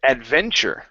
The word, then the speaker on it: adventure: example in the word Adventure okay so when we pronounce that Tu it changes into a CH sound adventure adventure good just